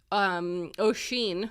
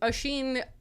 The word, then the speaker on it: Oisín: It just felt like Oisín, who I learned how to pronounce the name correctly because it's an Irish